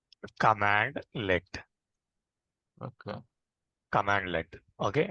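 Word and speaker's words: cmdlet: and then functions functions and then cmd let this cmd let will also be pronouncing as we'll be pronouncing as commandlet okay command le okay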